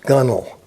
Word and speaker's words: gunwale: It's that's how it's spelled, Gunwale, but it's pronounced gunnel. All right, I don't know anything about fixing Bimini tops. I can fix the gunnel, but let's work on